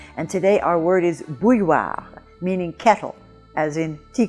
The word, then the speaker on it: bouilloire: Now this word has that combination of letters I-L-L, which we have seen in many of the words of this series, and that combination of letters I-L-L or I-L-L-E normally in French gives the sound y.